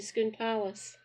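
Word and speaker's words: Scone Palace: gates that lead into Skoon Palace. They are delightful. Just put in Skoon Palace. Let the bait good same spelling pronounced differently. Remember that you eat a scone, you go to school.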